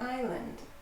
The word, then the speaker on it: island: Hawaii is an island. Don't pronounce the S.